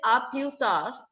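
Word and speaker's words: à plus tard: We will not say plus or plus. S is silent. It is aplutar.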